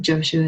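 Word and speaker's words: Jōshū: Jaojo is his Chinese name. Jooshu is his Japanese pronunciation of his name.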